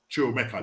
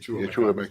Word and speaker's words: Chukwuemeka: Chukwuemeka, that's it. Chukwuemeka.